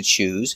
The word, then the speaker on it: choose: Pronunciation use a zebra z sound with vibration. Z choose. He needs to choose between an apple or an orange.